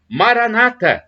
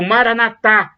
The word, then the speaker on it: Maranatha: de Jesus eu amo Maranata como dizem os protestantes com a tônica na penúltima sílaba ou Maranatha como dizem os católicos com a tônica na última sílaba o significado é o